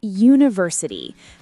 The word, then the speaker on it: university: It's university. The stress is on the first syllable.